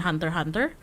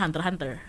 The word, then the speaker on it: Hunter x Hunter: Aku soalnya kalau Hunter x Hunter nggak bilang X-nya, aku bilangnya Hunter x Hunter. For me, for Hunter x Hunter, I don't say the X.